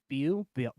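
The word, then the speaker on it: Beau: B E A U. Bu I think it's pronounced Bo, though.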